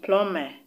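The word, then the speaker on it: plumber: c-l-i-m-b-e-r is still silent the b in plume p-l-u-n-b-e-r is also still silent the b in bombs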